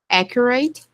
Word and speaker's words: accurate: Accurate. The last syllable is short. Not rate.